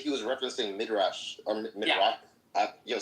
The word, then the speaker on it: Midrash: Yo, Mixed said that he was referencing Midrash or Midrash. Yeah. Sam can correct me on the pronunciation. No, you said it right. Millis was trying to confuse you. It is pronounced Midrash.